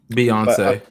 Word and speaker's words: Beyonce: of the afro alien beyonce beyonce yeah no that was her name beyond but it's spelled like beyond and then say lavi so beyonce yeah and you know